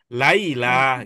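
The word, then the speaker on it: ليلى: Nah, kalau ini karena setelah lam itu ada alif, dia Laila, maka bacanya panjang. Laila gitu.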